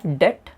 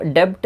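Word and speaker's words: debt: हैं यह वर्ड है डेट ठीक है इसमें अपने साइलेंट रहता है और इस डाइट का मतलब होता है इसको डेबिट नहीं पढेंगे इसको पढेंगे डेट और इसका मीनिंग होता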